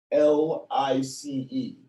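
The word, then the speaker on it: Pawlicy: Sorry, Policy, Pawlice, like paw, like a cat's paw.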